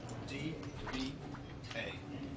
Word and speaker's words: dva: D-V-A. Va. Va. Or D-V-E. The accent de V. Depends on the Dva is easy. Va is easy. You pronounce it just dva. D-V-A. Va. Dva.